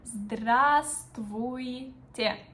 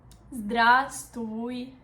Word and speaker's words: здравствуйте: Formal word is very long and kind of complicated to pronounce. And this is the word здравствуйте. Здравствуйте.